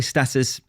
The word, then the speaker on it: status: Status or status? Which one is it? Americans say status, Brits tend to say status, but it's both.